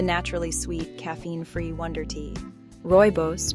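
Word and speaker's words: rooibos: royos tea the naturally sweet caffeine-free Wonder tea royos pronounced Roy boss is a naturally sweet tea made from the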